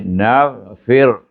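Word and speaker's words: نغفر: Kalimah naghfir, nun atas na mati dengan ghain. Nafa bawah fi, ra baca mati, kemudian baca dengan nipis, bunyi naghfir.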